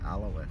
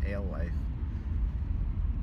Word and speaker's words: Alewife: See, it doesn't pronounce the road correctly. Alewith, it's Alewife.